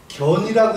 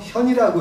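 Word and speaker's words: 見: 영이 제전 밭에 경찰은 견이라고 읽지 않고 현이라고 읽습니다 나타날 현이지요 요게 상입니다 나타난 용이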